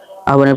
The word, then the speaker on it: আহ্বান: আহ্বান শব্দটির প্রমিত উচ্চারণ কি হবে? আহ্বানের প্রমিত উচ্চারণ হবে আহ্বান।